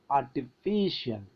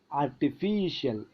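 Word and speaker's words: artificial: ഐ സി ഐ എൽ എന്ന സഫിക്സിന്റെ നേരെ മുമ്പുള്ള സിലബിൾ ആയ ഫീ അതിൽ നമ്മൾ സ്ട്രെസ്സ് കൊടുക്കുന്നു ആർട്ടിഫിഷ്യൽ അപ്പോൾ നമ്മൾ നോക്കൂ കോമിക്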